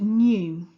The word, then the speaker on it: know: can you see how it starts with the letter K but this letter is silent we don't say it when we need the